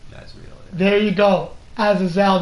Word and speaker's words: Azazel: Azazel, not Azrael. Azazel.